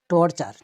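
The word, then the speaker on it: torture: তারপরে টর্চার, TURE, চার, টর্চার, অত্যাচার বা জুলুম।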